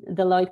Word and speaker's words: Deloitte: with my career and I joined Deloitte this is how it is pronounced uh the Lloyd couple of months back